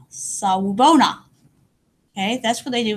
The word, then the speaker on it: Sawubona: In South Africa, when families visit each other, they say Sawubona. Sawubona. Sawubona.